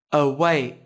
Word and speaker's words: away: I a a way từ nay có hai âm tiết trọng âm rơi vào âm tiết thứ hai các bạn nhé âm Tiết đầu tiên là âm mưu là âm tiết thứ hai có chứa nguyên âm đôi I thì các bạn cũng đừng quên bật phụ âm cuối nhé away cause chế